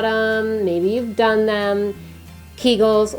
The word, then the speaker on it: Kegel: The first one, you have heard about them, maybe you've done them, Kegels, or some people pronounce it Kegels.